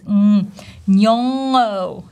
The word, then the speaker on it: Nyong'o: This ing ending, we should feel the vibration in our nose, nyong'o, nyong'o, oh, nyong'o.